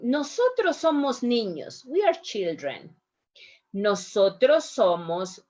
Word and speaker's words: nosotros: couple of things here when you say nosotros try to avoid the nosotros try to set it no it's a little bit harder i know nosotros somos familia nosotros that's a little bit more more pure the sounds another thing english can